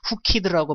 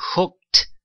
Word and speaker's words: hooked: 자, 크로 발음이 끝나기 때문에 ED 발음은 트로 발음이 돼야 되는 거예요. 그래서 hooked라고 발음하시는 분 많은데요. She hooked, hooked, hooked.